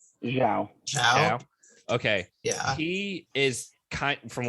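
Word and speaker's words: Xiao: Zhao.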